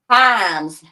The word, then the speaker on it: Hymes: Himes. It's like rhymes without the R like bust without the R.